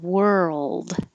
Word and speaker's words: world: me at all that world is one of them well the most popular word to ask it's like were old and you don't have to release the d so i put that